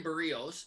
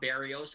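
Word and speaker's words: Berríos: It is not Berrios, and it was the most helpful comment of all of your comments. He's like, it is pronounced like burrito, but you take the T off.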